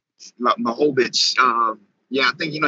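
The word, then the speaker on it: Błachowicz: How you pronounce his last name? Blachowicz.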